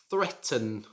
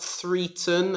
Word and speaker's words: threaten: now this should be pronounced threaten not three turn as i sometimes hear it should just be threaten number 17.